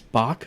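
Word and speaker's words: Bok: Bach, an American astronomer, who was actually one of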